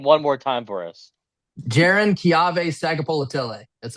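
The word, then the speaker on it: Jaron-Keawe Sagapolutele: I was going to ask, can you pronounce his name one more time for us? Jaron Kiave Sagapolatile.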